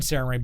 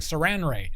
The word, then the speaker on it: Sarenrae: head for decades, and I've always said Sarenrae, but people see it spelled out, and typos happen. It's like, that sounds like Saranrae. That sounds like Saranwrap. It's like, if you don't say it right, sure, kinda. But if you don't say it right, you're wrong.